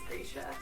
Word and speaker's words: Grisha: Ben Barnes says Grisha, so that's what we're going with.